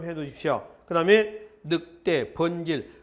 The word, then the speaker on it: 번질: 그다음에 늑대, 번질. 그 번질은 한자는 반작이라고 되어 있죠. 반작이라고 읽지 마세요. 이거는 이두문자입니다. 그래서 번질이라고 있습니다.